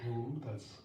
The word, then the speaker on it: hum: We'll just chant the seed syllable hum. Would be spelled in English something like H-O-O-M.